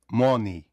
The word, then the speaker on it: money: Якщо в нас літера О стоїть перед н, то вона вимовляється як звук а. Money, mon а не о не оу, не а.